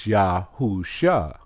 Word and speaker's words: Yahushua: come to phonetic spelling you see it says II a sous they're giving you the pronunciation of the name now they knew from the beginning that it was yahushua but once they put